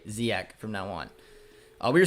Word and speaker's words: Ziyech: It's pronounced Ziyech.